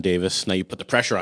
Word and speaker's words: Davies: magazine visiting with Davis at 10th planet on the thanks for Rolling podcast you said my name right like legitimately said it right like it's not like honestly you said Davis as well I forgot to introduce